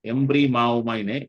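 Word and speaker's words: ἐμβριμάομαι: இதுக்கு இட் is very hard to pronounce. எம்ப்ரி மாவோமாய்னு EMBRIMAOMAI.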